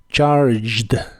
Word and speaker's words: charged: en inglés es charged la G de esta palabra se pronuncia como j y la e no se pronuncia charged charged el verbo estar